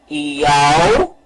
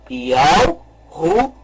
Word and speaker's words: Yahushua: E deve ser pronunciado, então, o nome correto. Yahushua. Vamos novamente pronunciar. Yahushua.